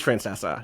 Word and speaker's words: Francesa: Pronounces it that way. It is Francesa.